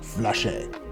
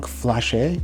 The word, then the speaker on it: Flashe: Versus Lefranc Bourgeois Flashe. Don't worry, I'm not going to try and rap. I mentioned Lefranc Flashe or Flash. I've heard both pronunciations.